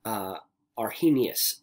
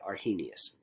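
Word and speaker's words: Arrhenius: name right here so I am confident that I mispronounced this name are he Gnaeus is the way that I was told to say are he Gnaeus so I don't know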